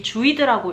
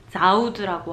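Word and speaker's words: Zuid: 그 구글 맵으로 보시면 이게 많은 분들이 주이드라고 읽으시는데 사실 네덜란드어로 UI는 아우 발음이 나요. 형 아니고. 이거를 주이드라고 하시면 아마 네덜란드 사람들은 잘 못 알아들을 거고 이걸 자우드라고 하셔야 돼요.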